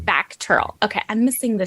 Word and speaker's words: VACTERL: uh well you were born with is it pronounced lateral or how do you pronounce that it's pronounced back Turtle okay I'm missing the C that's why okay